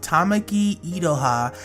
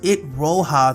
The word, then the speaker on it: Tamaki Iroha: I made a mistake when it comes to pronouncing the name of Tamaki Idoha, and instead of saying her name in the way I just did, I refer to her as It Roha throughout this video you're about to see.